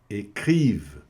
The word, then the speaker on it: écrivent: Les journaux écrivent. Então, os jornais escrevem. Olha aqui o verbo écrive também comendo aqui o ENT, né? Écrive, tá? E pronuncia só até aqui o V.